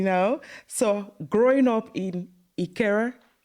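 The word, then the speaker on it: Ikeja: okay you know so growing up in Ikera. You've pronounced it well.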